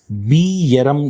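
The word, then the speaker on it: Bjerrum: we call as RQ scotoma also called as bam scotoma this is not geram guys this is pronounced as Bam Bam Bam scota okay now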